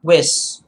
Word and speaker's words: Wyss: again before we proceed this is johan johan wis w-y-s-s johan wiss remember that i'm sure you